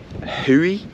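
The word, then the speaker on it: Hou: It is a Hui, who it's spelled H-O-U, canoes, the Caring Canoe Company, that's what they're called.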